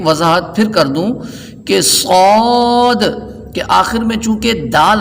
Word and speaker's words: صاد: تو جب ہم ہجے کر رہے ہوں تو احتیاط اس بات کی ہے کہ صاد کی ادائیگی کے وقت آخر میں دال سکون کے ساتھ ہے.